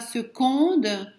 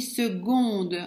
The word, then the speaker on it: seconde: Curieusement, on ne dit pas seconde, mais on dit seconde avec un G. Seconde. C'est une exception en français. Le mot seconde, on le prononce seconde avec un G, comme guenon, comme voilà, guépard.